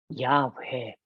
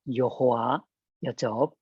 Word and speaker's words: 야훼: 출애굽기 20장 7절에 말씀되어지고 있는 신성 네 문자 야훼, 옛날 사람들은 여호와였죠.